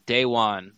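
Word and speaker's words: Deone: This is what I know I call him Dion, but it's Dayon, right? Dayon. Yeah, the pronunciation guide says Dayon.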